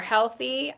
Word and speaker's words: Healthie: So we are Healthy with an IE at the end, like selfie.